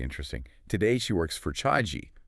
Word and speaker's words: Chagee: Today, she works for Chagee. That's spelled c h a g e e, by the way, but pronounced Chagee.